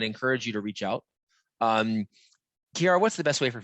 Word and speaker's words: Chiara: Kiara, what's the best way for folks to reach out to us, actually?